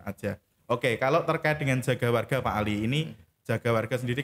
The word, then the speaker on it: Jagawarga: Ini bacanya Jogo apa Jagawarga Pak? Ya, namanya Jagawarga gitu ya. Oh, Jagawarga. Kalau orang Jawa mungkin juga Jogowargo. Jogowargo itu ya.